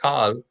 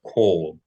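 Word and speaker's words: כל: Anytime you say all in Hebrew, you're going to pronounce it in the historical way. So not kal, but kol. All Jewish communities pronounce the vowel correctly in this word for whatever reason.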